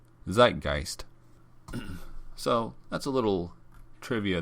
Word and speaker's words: Zeitgeist: But if you want to actually go to that bar, it's Zeitgeist. Zeitgeist.